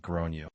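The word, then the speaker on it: Gráinne: She asked what I meant and I said, "Well, in Ireland, they typically pronounce it like grown."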